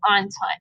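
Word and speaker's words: Entente: the Triple Alliance and the triple on time so that's how you pronounce that works and the triple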